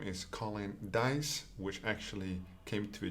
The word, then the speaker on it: Dijs: my name is colin dice which actually came to a joke for the name of this channel dice is pronounced dice like roll the dice but of course i've